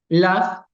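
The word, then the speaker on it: laugh: que están allí ellos la es el verbo reír Sí en inglés lo escribimos L A ugh pero realmente lo pronunciamos como la También tenemos grupos de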